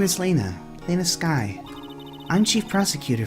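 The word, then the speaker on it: Lana: right ah yeah she does look strikingly like Mia we're not having you mispronounce another important female characters name it's lon I'll that it's Lena no way let's check on the port guard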